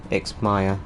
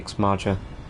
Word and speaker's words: Ixmaya: Oh, that's how you're supposed to say it. Ixmaya. I was saying Ixmaja.